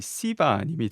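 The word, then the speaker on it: Seba: 토니 세바님을 영어로 발음하면은 토니 시바님이 되는데 세바님이라고 하겠습니다. 자, 이 내용을 통해서 볼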